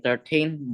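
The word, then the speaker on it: thirteen: the correct syllable in 13 the stress on the the stress is on the second syllable and in 30 the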